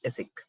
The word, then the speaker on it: ASIC: in short of v the pronunciation is asic so what is this